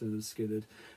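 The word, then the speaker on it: Lynyrd Skynyrd: skinnard from their debut pronounced Leonard skinnard Freebird of course has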